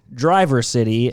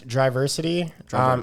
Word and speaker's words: Driversity: No, I call it Driver City, and the real name is? So the real name is Driversity, and I am a